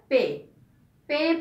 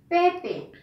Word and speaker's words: পেঁপে: চন্দ্রবিন্দু, প এক আর পে, পে পে উচ্চারণটা কি হবে? পে পে। কেন জানো? পর উপরে কোনো বর্ণের উপরে যদি চন্দ্রবিন্দু থাকে তখন সেটাকে নাকে বাজিয়ে উচ্চারণ করতে হয়, এই জন্য এটা উচ্চারণ হবে পে পে।